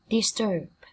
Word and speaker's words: disturb: Disturb, disturb. Quấy rầy làm phiền. Disturb. Trọng âm cũng rơi vào tiết thứ hai.